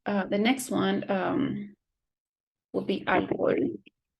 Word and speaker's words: alcohol: Okay, so the next one will be alcohol. Alcohol. It's not alcohol, it's alcohol.